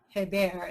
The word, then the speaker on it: Hebert: We have data in first and second grade, and Graham and Hebert, is how you pronounce his name, did a meta-analysis that shows this very clearly.